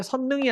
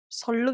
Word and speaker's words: 선릉: 서울의 지하철 역 이름인데 유발되기 때문에 선 능이 아니고 발음이 선릉 입니다 그래서 발음을 선 등으로